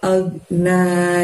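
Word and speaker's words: ما أغنى: Karena depannya ada lafaz agna. Jadi cara bacanya gini teman-teman. Ma agna, agnya jangan sampai mantul suaranya ya, ditahan ya. Lalu na-nya panjangnya 2. Agna, bukan ag, tapi agna, seperti itu.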